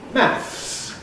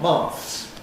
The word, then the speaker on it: maths: So mathematics is shortened to maths not maths.